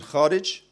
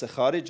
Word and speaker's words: Kharij: So the Dars Kharij, I'm using Persian pronunciation, means you are now studying outside of the text.